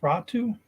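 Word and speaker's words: Räty: So his name's pronounced Ratu?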